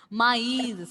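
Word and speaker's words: maïs: Maize, see, E sound is coming.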